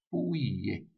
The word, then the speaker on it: Pouillet: Se escreve assim, ó, Pouillet. Pouillet. Com dois L's e T mudo.